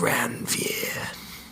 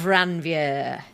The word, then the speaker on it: Ranvier: They're called the nodes of ranvier. Oh, yeah. What are they nodes for? of ranvier. How would you pronounce that?